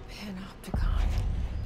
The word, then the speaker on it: Panopticon: Panopticon. That's how you pronounce it.